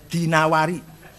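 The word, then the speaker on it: الدينوري: wasas I qubah addinaawari jangan addainuri bacanya dinawari J addainuri enggak ada kota dainur Ada dinawar dinawar he alasmi enggak ada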